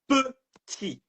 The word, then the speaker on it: petit: Little in French is petit.